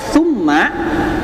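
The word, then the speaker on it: ثُمَّ: Jadi kalau hatta kan tasdidnya tidak pada huruf gunnah, maka dibacanya cukup dua ketukan, hatta ya, hatta. Tapi kalau summa karena dia tasdidnya pada huruf gunnah, tambah 1 kali tasdid ya, tambah 1 kali tasdid, maka dibacanya summa ya, tidak summa begitu ya.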